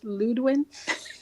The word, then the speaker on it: Ludwin: It's Ludwin. Ludwin, sorry, apologies, Ludwin. I destroyed everyone's name. I apologize about that. Thank you for correcting me. Most people get it wrong because of how it's spelled.